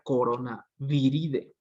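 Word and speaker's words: Coronaviridae: Con D, idae, que dicen los que saben que se pronuncia ide, ¿no? O sea, es decir, aquí sería coronaviride, ¿sí?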